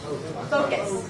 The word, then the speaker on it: focus: So first of all, the primary stress is a long O, tho, and there is no U. Very good. Focus.